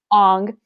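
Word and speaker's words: Aang: His name was Ong. Ong. Apparently that's the correct way to pronounce it, but like it was dumb.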